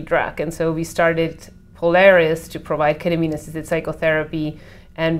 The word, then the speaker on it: Polaris: Polaris Insight. Yes, yes, okay. Not polar is insight, Polaris, right? Yeah, yes. We have different pronunciation. It's like the star, like on your shirt.